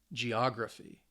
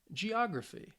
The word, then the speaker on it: geography: gy the cal um and you can see that the stress is on the third to last syllable which means for these words it's on the second syllable so let's say these